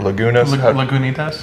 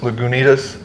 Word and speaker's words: Lagunitas: And then there's a Lagunitas or Lagunas. Lagunitas. You and your pronunciations, man.